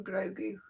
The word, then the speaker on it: Grogu: And here we have arms and fingers for Grogu.